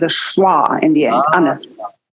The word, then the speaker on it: Anna: How do you pronounce that in German? Anna.